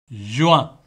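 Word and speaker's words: juin: ஜுவான், ஜுவான். அப்போ இதில் பாருங்கோ, கடைசியில் வந்து இஎன் என்று வருது என்ன? இஎன் என்று வரைக்க ஆ என்று உச்சரிக்கணும். அப்போ ஜு ஆ, ஜுவான் என்று உச்சரிப்பீங்க.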